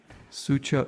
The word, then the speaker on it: Suzhou: su cheol-su cheol-soo joke I pronounce the CH oh you now like Joe I just say Joe like my dad's name Joe because if I try to do the just Joe Joe Joe because it's really like a DG sound and people correct you